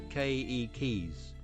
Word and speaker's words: keiki: How many times have I had to tell you that every letter in a Hawaiian word is pronounced? Here's how you say children in Hawaiian. Keikis, with the accent on the first syllable.